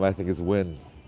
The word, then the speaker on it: Nguyen: Yeah, Win. That name is like, how could you beat Win? Spelled like that, right?